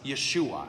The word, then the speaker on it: Yeshua: But they would have called Jesus Yeshua. That's how you say his name.